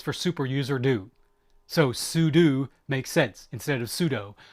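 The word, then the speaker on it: sudo: saying pseudo stands for super user do so Pudu makes sense instead of pseudo I used to pronounce it pseudo there's a great comic I think it's X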